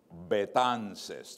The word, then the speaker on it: Betances: And my last name is Betances.